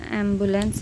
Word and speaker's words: ambulance: an ambulance is, but it is actually should be pronounced in American English as ambu. You should be stressed. Ambulance. It's not This is also an example for LA is not la, it is LUH, la.